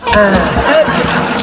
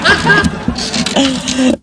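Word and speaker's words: أحد: Salah kata dia. Bukan. Ya memang salah. Harus gini. Bacanya harus gini. Qul huwallahu ahad. Harus ahad. Bukan ahad. Saya bilang gini.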